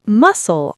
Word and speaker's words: muscle: The word muscle also has a silent letter C.